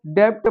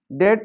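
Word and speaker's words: debt: जैसे यह लिखा है डी ई बी टी। तो जिन बच्चों को जानकारी नहीं है वो इसको डेप्ट पढ़ते हैं। लेकिन यह पढ़ा जाएगा डे। डेट होता है कर्ज और इसी तरह यह हो जाएगा डेटर।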